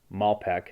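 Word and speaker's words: Malpeque: the west side of malpaque mal peck bay okay that's pronounced malpac bay in prince edward island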